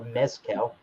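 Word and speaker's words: Mezcal: be reviewing the Luna Mescal or Mescal the Z is pronounced as a letter s in Mexico Luna mcal AR seasal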